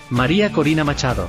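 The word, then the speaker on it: María Corina Machado: Um, the winner of the Nobel Peace Prize is uh how do you pronounce her name? Maria Corina Machado.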